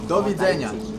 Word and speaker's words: do widzenia: Do widzenia. Do widzenia?